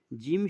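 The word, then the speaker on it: جيم: এখানে বলা আছে যে জিভের মাঝখান এবং তার বরাবর উপরের তালুর সাথে লাগিয়ে উচ্চারিত হয় জিম, শিন, ইয়া।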